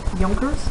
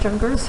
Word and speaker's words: Junkers: uh yeah so uh right here pronounced junkers not junkers right and we're looking